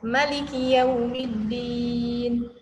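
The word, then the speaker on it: مالك يوم الدين: Kemudian maliknya itu malik dibaca pendek, Maliki yaumiddin. Gitu ya.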